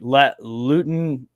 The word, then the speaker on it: Luton: So like Luton Town. Pronounce it L-O-O. Luton, but Luton is supposed to be last place, and then what was the Sheffield?